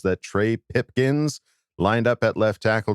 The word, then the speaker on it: Pipkins: I'm gonna give 2-day period where I'm going to be fully behind Trey Pipkins, and I'll say his name properly now. I'm not going to say Pumpkins.